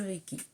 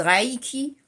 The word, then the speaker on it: Reiki: Il y en a qui disent Reiki, mais je crois que les Japonais prononcent Reiki.